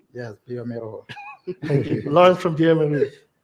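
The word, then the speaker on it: bioMérieux: Pirelli's Italian, because I almost made that mistake just because I got excited trying to figure out how to pronounce Biomeru. Yes, Biomero.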